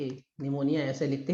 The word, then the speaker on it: pneumonia: हो जाते हैं और इन्हें बॉक्स ऊपर कहते निमोनिया तो निमोनिया में क्या होता है हमारे जो